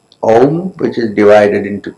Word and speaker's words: Om: SkyDome in a completely different way mike says ohm which is divided into 3 syllables of ah-hoo and the first syllable the